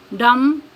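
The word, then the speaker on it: dumb: एम के बाद आए फॉर एग्जांपल क्लाइम क्रम डम कॉम नेक्स्ट है silent C सी इज not pronounced C pronounce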